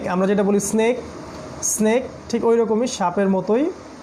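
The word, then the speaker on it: سين: এইটা উচ্চারণ করতে গেলে একটু তীক্ষ্ণভাবে বলতে হবে, এই সাউন্ডটা বের করতে হবে, এই সাউন্ডটা।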